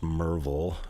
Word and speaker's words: Maryville: and from Maryville Tennessee it's pronounced Merville if you're from Maryville you'll know that I'm not lying because I know how to say it right but yeah it's just